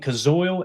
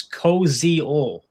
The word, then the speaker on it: Koziol: And we've been saying Kazoil. Evidently, the pronunciation online that I looked up is Koziol.